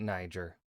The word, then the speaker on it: Niger: to tell us ner I'm G to be pronouncing it Niger CU I can now before we dive in